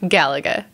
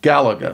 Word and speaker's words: Galaga: or gal Lega or Gaga how do you pronounce it Galaga Galaga yes all right there you have it you